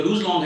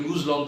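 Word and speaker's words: Luz Long: तो जो लूज लॉन्ग है वो, अच्छा लूज का ना प्रोनाउंसिएशन काफी डिफरेंट है, स्पेनिश में थोड़ा सा कोई इसको लूज प्रोनाउंस करता है, कोई लज लॉन्ग प्रोनाउंस करता है, कोई लूज लॉन्ग प्रोनाउंस करता है। मैंने काफी इसका रिसर्च किया है, लेकिन लूज का सही प्रोनाउंसिएशन थोड़ा सा डिफरेंस है, तो वी are calling it लूज लॉन्ग, okay.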